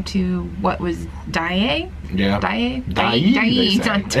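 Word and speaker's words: Dyea: Dye. It's D-Y-E-A. So Dye. I never knew how to pronounce it. I'm taking Steve Height's pronunciation.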